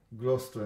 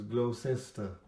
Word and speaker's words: Gloucester: to a station called Gloucester and and the way we pronounce is blow sister because there's some funny